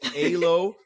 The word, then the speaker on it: Elo: When I was talking to you on the phone, I'm like, am I pronouncing it wrong or are you pronouncing it wrong? So it's Elo, but spelled ELO.